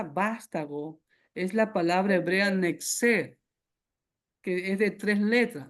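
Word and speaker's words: נצר: es la palabra hebrea nexer, que es de tres letras. Recuerde que en el hebreo no existen vocales. Es la letra n, por decirlo en español, que en hebreo es la letra nu.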